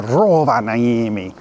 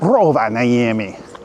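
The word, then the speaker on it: Rovaniemi: February you might have seen me go to Roa naami which is how you actually pronounce it you have to say it just like that Roa namami but I went there and I went to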